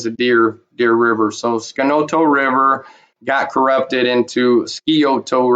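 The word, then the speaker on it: Scioto: today modern day Ohio they mispronounce this River Valley they call it the scoto river valley but that that is not the the proper name for that River it's more appropriately uh called skoto skoto which is actually a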